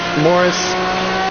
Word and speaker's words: Maurice: author as is uh moris uh although it's spelled Maurice uh Hamilton both are excellent